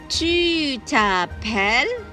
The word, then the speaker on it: tu t'appelles: Tu t'appelles. The S is silent.